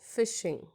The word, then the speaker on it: phishing: We'll spell it out it as phishing, but we will speak it as phishing.